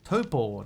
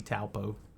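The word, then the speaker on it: Taupō: And the preferred pronunciation is Topo now. It used to be Taupo. Now it's Topo.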